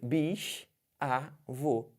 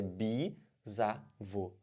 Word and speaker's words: bisavô: tá lá nas alternativas Bis avô errado não pode cair nessa bicho avô tá errado é bi zarvô virgem né diferente bicho